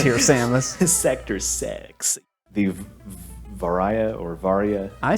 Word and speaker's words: Varia: deep on it uh it's just a mistranslation of barrier suit in Japanese oh my God so I guess it should be pronounced bar varia so yeah I guess